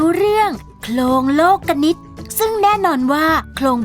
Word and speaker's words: โคลงโลกนิติ: ฟัง กัน เลย ค่ะ หลง โลกนิติ อ่าน ว่า ลง โลกนิติ หมาย ถึง ระเบียบ แบบ